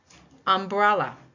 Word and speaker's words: umbrella: What about this one? Umbrella. It's a three syllable word that is a noun. H. You would think that it would be the first one according to our rule, but I did this one to trick you a little bit. The second syllable takes the stress in umbrella.